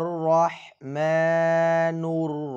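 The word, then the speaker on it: الرحمن: এখানে সকলে খেয়াল করুন, হু অর একটু মোটা করবেন, সকলে মোটা করে বলবেন হু অর রাহমা। রহা রহ শক্ত করে হু অর রহমানুর রহিম, নূর রহিম। এখানে টান দিবেন ৩ আলিফ এবং হা শব্দটি সকলে শক্ত করে উচ্চারণ করবেন।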